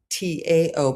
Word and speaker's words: Tao: It's actually uh spelled uh t a o but pronounced the Tao.